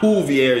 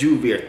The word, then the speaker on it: Joovier: It's not Joovier, it's Joovier.